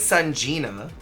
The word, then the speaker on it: Sanjina: Your girl, Sanjina.